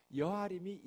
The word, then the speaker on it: 여아림: 여아림이 야르의 복수 형태예요. 나무란 뜻이에요. 나무 혹은 숲. 그러니까 야르인데 야아르의 뒤에 끝에 복수형이 되면 임을 붙이면 되거든요. 그래서 야림이 아니라 앞에 발음이 약해져서 여아림 이렇게 된 거예요.